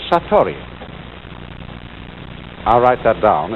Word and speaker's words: satori: is in Japanese and then it is called Satori I'll write that down it's an unfamiliar word